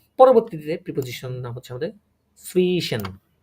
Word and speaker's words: zwischen: পরবর্তীতে প্রিপোজিশন নাম হচ্ছে আমাদের সুইশন। কি বলে এটাকে? প্রনাউন্সিয়েশন করেন সুইশন। সাফিসিয়েন্ট। সুইশন, সুইশন, সুইশন। আবার সুইশন না, একদম এটা এটা কিন্তু ভে, তাই না? একটু ভেটা উচ্চারণ করা হবে।